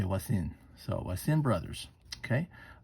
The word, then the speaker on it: Voisin: way that pronounced in french is the v is silent and you say what's in so I stand brothers okay I also want